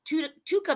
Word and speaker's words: TUDCA: But this is, and I want to say it right, is Tuca Max, right?